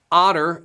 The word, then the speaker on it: Otter: Garen, it's right below in the description, but it's called Otter, as in the animal, O-T-T.